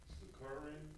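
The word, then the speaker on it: Sicarii: Sakari? Yeah, it's spelled Sicari. But yeah, you right on that.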